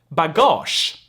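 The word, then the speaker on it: bagage: to make notes so for instance we have bagosh here it's spelled with it with a with a with a g which means luggage then we have c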